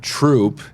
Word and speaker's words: Throop: So We've obviously accepted that troop is troop Troop. because that's Right. how the locals call it, but it's certainly not how it's spelled.